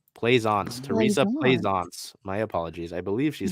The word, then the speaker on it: Plaisance: Teresa Plicence is listed as a forward, so maybe her. She's 6'5". So I mean, maybe Plicence. Oh, wait, right, yeah. Hold on. The pronunciation guide is Plaisance. Teresa Plaisance.